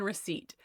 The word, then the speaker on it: receipt: For me, it's the P in receipt.